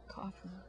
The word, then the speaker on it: Coughlin: It's Irish, right? So it's not a CK Coughlin. It's a GH, and so I've always pronounced it as a cough. Coughlin.